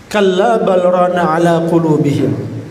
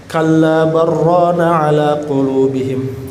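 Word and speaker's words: كَلَّا بَلْ رَانَ عَلَىٰ قُلُوبِهِمْ: Dalam hukum tajwid, saktah itu berhenti sejenak tapi tidak bernafas, ya. Jadi bacanya bukan kalla barrana ala qulubihim. Jadi tidak dilanjutkan dan tidak menjadi idgham bila gunnah, ya. Ya, tapi juga tidak berhenti kalla bal, nafas dulu, rana ala qulubihim, tidak juga.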